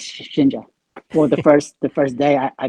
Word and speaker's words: Shinja: I guess how much did you put in for Sinja? Is that how you say it? well, yes, Shinja.